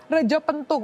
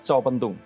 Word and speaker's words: Retjo Pentung: ya Reco pentung Oh Rejo pentung Yes Reco pentung Reco kalau t j Dib bacanya si C Reco pentung Reco pentung